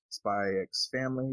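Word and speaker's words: SPY×FAMILY: and they're doing currently spy x family which you don't pronounce the x which kind of always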